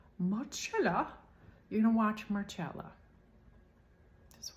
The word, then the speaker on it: Marcella: differently there's a show called Marcella it's English m-a-r-c-e-l-l-a it looks like Marcelo but it's pronounced muchella you know watch Marcella just watch that show